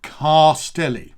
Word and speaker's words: Castelli: So it's Castelli, right? Castelli, Castelli. So 3 syllables.